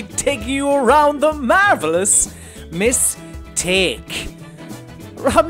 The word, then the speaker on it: Miss Take: be playing The Marvelous mistake I don't know why I pronounce it like that it's not M it's Miss take cuz you play as Miss Sophia take I believe her name